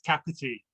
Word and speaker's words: Kapiti: Yeah, you did well with the pronouncing it. It's Kapiti.